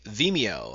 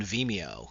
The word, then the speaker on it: Vimeo: I will be using Vimeo, I think that's how it's pronounced, as opposed to YouTube.